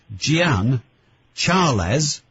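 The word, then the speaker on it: Jean Charles: His name was, and again, pronunciation seems to be, well, you seem to have a choice, but essentially it's Gian Charles, spelt like Charles de Menezes.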